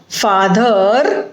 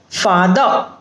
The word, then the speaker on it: father: And not father but father. So father, a sound which comes at the end.